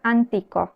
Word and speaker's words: antico: sílabas en este caso la palabra antico que significa antiguo Cuántas sílabas tiene TR an bien Cuál es la acentuada y co la acentuada es la penúltima es decir en español La anteúltima la última es co la anteúltima es ti el otro ejemplo la